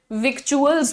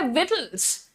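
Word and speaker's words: victuals: तो अब आप, क्योंकि मैडम यहां पर भी TUALS लिखा है, तो हम लोग इसे भी विक्चुअल्स बोलेंगे, but that's not correct, that's not correct. इसको क्या बोलते हैं, इसका प्रोनाउंसिएशन होता है विटल्स।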